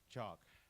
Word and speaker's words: chalk: Walk, talk, chalk. Like Pak Marzul, Yeah, chalk. L is not pronounced.